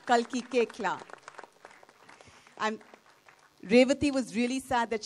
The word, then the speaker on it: Koechlin: It's pronounced Koechla. Kalki Koechla.